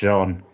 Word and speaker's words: Johan: I pronounce the name I was saying Yan and you how do I pronounce your name it's Johan Johan Johan okay joh so